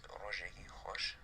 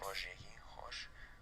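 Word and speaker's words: rojêkî xoş: In Kurdish is rojeki khosh. Next. Rojeki khosh. The J is pronounced as J, like in French.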